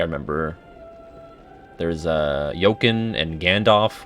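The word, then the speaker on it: Gandof: there's uh joachim and gandalf which is said like gandalf but spelled differently um there's o'holland which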